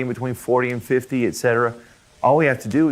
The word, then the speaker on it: y: We don't say Y, because that's really just the name of the letter, right? We just say E. It sounds like the letter I almost.